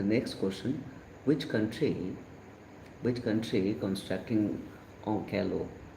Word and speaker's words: Onkalo: For the next question, which country constructing Onkalo? This is Onkalo, okay, or Onkalo, or Wankalo. There are different pronunciation.